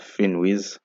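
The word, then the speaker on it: Finviz: the next one is finwiz uh it has a v but it's it's pronounced finwiz uh so just a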